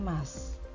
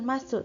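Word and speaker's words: ます: berlatih kosakata-kosakata kerja bentuk mas dibawah ini kemudian sebagai catatan biasanya Kalian sering sekali membacanya dengan mimasu kaki masuk yomimasu atau kikimasu disini untuk kata masuk itu tidak usah diucapkan masuk tetapi Mas Mi Mas kakimas Xiaomi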